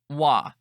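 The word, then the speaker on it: は: whom we are talking hiragana ha we pronounce as wa when we use for particle Des means to be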